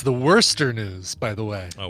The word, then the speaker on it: Worcester: common thing but it's you basically pronounce the first five letters as worse and then the last four letters as stir worse than it's worster